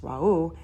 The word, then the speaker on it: Ra: And the energy polarity Ra, pronounced Ra'u, hence aura, radiation, etc.